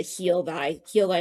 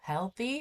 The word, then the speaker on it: heal thy: But yeah, I thought it was like heal healthy or like heal thee. But no, I love that heal thy, and it looks like healthy, and this is so interesting.